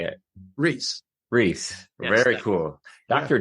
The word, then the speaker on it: Reis: So the Portuguese people will say Reis, and the name means king in Portuguese.